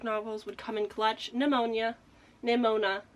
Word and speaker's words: Nimona: Nimona. I can never say the name right. I always want to say it like it's fucking ammonia. It's not. Nimona.